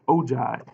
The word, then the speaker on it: ogive: already we have an ogive here this is pronounced ogive what an ogive is is a graph of